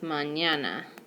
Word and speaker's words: mañana: how to pronounce it it would be like putting an N and a Y together so when I write mañana with the N yay you can just pretend like it's written like this mañana so that would be